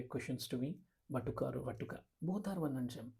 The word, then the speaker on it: Vatuka: Vatuka or Vatuka, both are one and same. Vatuka is simple, it is actually Sanskrit correct pronunciation of a younger one, okay?